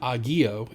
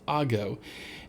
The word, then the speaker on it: ago: It's not agio, it's ago. And so what distinguishes a